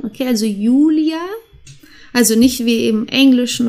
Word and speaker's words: Julia: die Leute heute okay das J wird wie ein i ausgesprochen okay also Julia also nicht wie im Englischen oder in anderen Sprachen wie wie Julia das haben wir nicht das ist einfach Julia der Januar jung dann